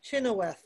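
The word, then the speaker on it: Chynoweth: out your way as well shannon shanna chin chinoweth spell that so shanna is s-h-a-n-n-a and her last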